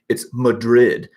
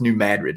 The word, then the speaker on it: New Madrid: were making comments saying, "Oh no, it's Madrid. You're pronouncing that wrong." And I'm like, "Oh well, you obviously don't know how to speak Midwestern. It's pronounced New Madrid locally."